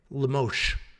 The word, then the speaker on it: Lemos: that in Amanda lamosh it's it's sh at the end okay lemosh when I have to teach